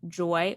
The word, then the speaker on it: JOI: And so I decided to get lab work done through an incredible company called Joy Wellness. That's spelled JOI Wellness.